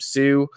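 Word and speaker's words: Psue: I got a podcast called A Boy Named Sue, like the Johnny Cash song, except Sue is spelled P-S-E-U because, do the math.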